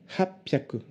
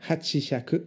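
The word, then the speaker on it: 八百: 600, ropyaku, pour 800, hapyaku. Voilà, faites attention à ces trois-là. Ne dites pas hachihyaku pour 800, ça ne veut rien dire. D'ailleurs, c'est dur à dire.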